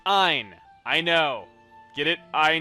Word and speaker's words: Ein: It is pronounced Ein.